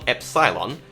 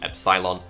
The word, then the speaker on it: epsilon: Well, call the top one epsilon, Yes, that's how many of us Brits pronounce it.